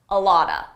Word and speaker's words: a lot of: Here I used a reduction. A lot of is pronounced a lotta, a lotta.